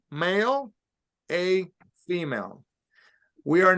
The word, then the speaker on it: mal: bien very good Mal now to pronounce the word like Mal m-a-l you have to make sure you hold that sound Mal IBU all right